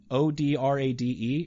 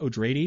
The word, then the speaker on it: Odrade: name is darwin o'drady o-d-r-a-d-e everyone pronounces it odrade it's supposed to be pronounced o'drady because it's supposed to sound like atreides arrakis is now called